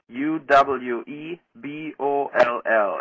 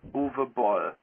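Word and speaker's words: Uwe Boll: then pronounce my name right my name is Uwe B Oh lol and you pronounce it boo boo ball and not Yui or Eevee it's over ball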